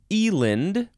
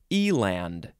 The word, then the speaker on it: eland: done Elon hmm next is Eland or Eland Eland Eland and it is spelled e-l-a-n-d just like it sounds noun from 1600 either